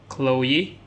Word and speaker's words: Chloe: So this name, Chloe. So many people maybe don't know how to pronounce this name here.